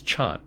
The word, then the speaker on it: Chan: absorption it's worth noting the Chinese pronunciation of Tiana is Chan which while while in Japanese it's rendered Zen in one sense somat